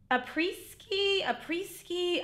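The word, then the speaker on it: Après-ski: Adora reads about a preski. I don't know how to pronounce it.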